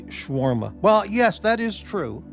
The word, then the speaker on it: shawarma: Morty, you certainly make a point to hit every syllable ever imagined with shawarma, rather than simply shawarma.